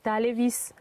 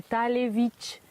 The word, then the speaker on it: Talevich: Du coup, si tu le prononces, ça te fait Talevis. Alors que papa il vient de dire que c'est Talevich.